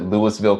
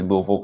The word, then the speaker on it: Louisville: unit that was in i like to pronounce it lewisville kentucky but it's actually louisville kentucky uh so one thing it